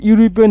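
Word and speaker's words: European: শুরুতে একটা আছে ইউরোপিয়ান, তো ইউরোপিয়ানটা উচ্চারণটা আমরা কীভাবে করি, রস্য উ ইউ। ওকে, যেহেতু উচ্চারণটা ইউর উচ্চারণ, যেহেতু শুরুতে ইউ আছে, ইউ এর উচ্চারণ হচ্ছে ইউ, এরকম হলে আমাদের চোখ বন্ধ করে কি বসবে, এ বসবে।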